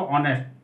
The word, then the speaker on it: honest: Bye born जन्म से, हॉनेस्ट HONEST ऑनेस्ट, यहाँ देखिए H है हॉनेस्ट लेकिन पढ़ना इसको ऑनेस्ट, प्रोनाउंसिएशन को भी थोड़ा ध्यान देंगे।